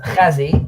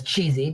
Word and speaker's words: Chezi: respectfully pronounce your name my name is Kazi people pronounce it as cheesy because uh you have hard time saying the sound but it's h um if it's easier